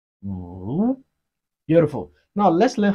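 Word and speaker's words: 五: Si, it has the fourth tone of Chinese language. The fourth tone is the falling tone. Si. Five in Chinese is pronounced as wu.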